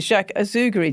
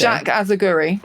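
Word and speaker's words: Jacques Azagury: So those clothes that we've just described, so like I still can't pronounce it. Jack Auguri, did you say Jack Azaguri? See, you can't do it.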